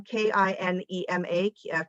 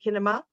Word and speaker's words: Kinema: video tonight, watch on KINEMA, Kinema, I think is how they say it, because I know there will be other screenings over the next few weeks. But Cinema, Jordan, it's cinema with a K.